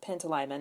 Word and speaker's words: Pantalaimon: And I think you will see shades of Lyra and her daemon, Pantalaimon, I think is how you pronounce his name, in Quicksilver and Fox.